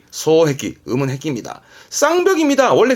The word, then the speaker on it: 双璧: 발음은 소해기, 음은 해기입니다.